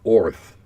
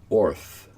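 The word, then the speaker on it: Oerth: in other words it's supposed to be pronounced almost like saying Earth with a Bugs Bunny Brooklyn accent so what o no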